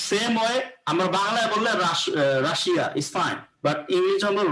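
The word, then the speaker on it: Russia: ঠিক আছে তো সেম ওয়ে আমার বাংলায় বললে রাশিয়া ইস ফাইন বাট ইংরেজি হলো রাশা যাই হোক এগুলার রুলস আছে তো আমরা শিখবো তাইলে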